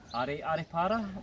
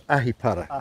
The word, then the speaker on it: Ahipara: Do you want me to pronounce it? Yeah. Aripara? That's it, that's close, it's Ahipara.